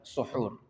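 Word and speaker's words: سحور: Cara bacanya yang benar, kalau kita ingin menyebutkan proses perbuatan makan sahur, itu disebut dalam bahasa Arab suhur, menggunakan masdar.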